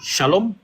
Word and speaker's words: shalom: Donc la consonne qui est au début de shalom là quand c'est chez les Arabes, ça se prononce S. Quand c'est chez les Hébreux, ça se prononce che.